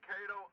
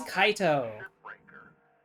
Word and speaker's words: Kaito: even here God and he's saying his name wrong You can disagree with a decision you must come it's been here his name is kaito and I am committed